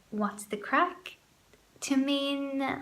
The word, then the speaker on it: craic: using a general fun like we had great craic last night at the party in other words we had a great time we had a lot of fun we can say what's the craic to mean like how are you what's up